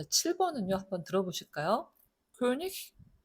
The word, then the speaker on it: König: König, richtig, Igel, dich. 자, 얘만 다르죠. 나머지는 전부 ich 발음입니다. 1번과 2번은 지난 시간에 말씀드린 대로 단어 맨 끝에 이 개가 오면 이크 발음이 아니고 ich 발음이 난다라고 말씀드렸어요.